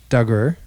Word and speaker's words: Dagur: like you said earlier some people are just like dagger yeah dagger anything with a d yeah